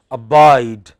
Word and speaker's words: abide: Abide, abide.